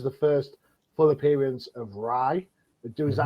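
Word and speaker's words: Rai: 5 which is the first full appearance of Ry do is that how you pronounce it Ry yeah yeah um um and then of course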